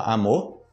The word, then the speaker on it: amor: hoje você vai ter também amor e você fala amor amor amor amor não não mor amor aí tanto que você